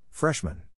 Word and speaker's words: freshman: is in this case the accent is in the first syllable corresponding to Fresh below are other ways